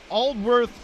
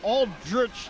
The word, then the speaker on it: Aldworth: clear up the pronunciations it was aldworth to jurich not aldrich to drew rich as that one goes